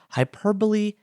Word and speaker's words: hyperbole: over the last ye the macron the straight line tells us that the vowel is pronounced like an e the long sound hyperbole etymology